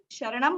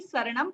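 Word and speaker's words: सरणं: तो जब आप चत्तारी शरणम बोल रहे थे वो गलत है, चत्तारी शरणम पवव्जामि। ठीक है, मैंने भी ये मिस्टेक बहुत साल बनाई है, फिर अभी मैंने सीखा कि श नहीं बोलना है, शरणम ही बोलना है। ठीक है, क्योंकि प्राकृत लैंग्वेज में श अल्फाबेट है ही नहीं।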